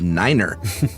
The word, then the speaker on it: niner: Uh, most numbers are the same with a notal notable exception of niner. Uh we use niner instead of nine because over garbled radio it sounds like five but mainly because NATO countries speak German.